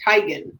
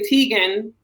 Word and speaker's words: Teigen: like chrissy teigen her last name really isn't teagan it's tigen but people just say tegan and she just went with it because i didn't